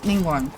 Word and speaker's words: Ningguang: Night, however you say night. Can't say her name. Starfall! Yeah, that Ningguang.